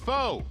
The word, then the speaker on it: Fo: me multiple times that I got his name wrong last week. So thank you for that. I kept saying Pho because I had soup on the mind.